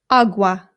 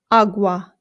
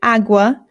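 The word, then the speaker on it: agua: Again, the a makes an a sound. There are some British people, including people in my own family, who say awa, and it is not correct. Please don't say it that way if you're trying to speak Spanish. It's awa. Awa.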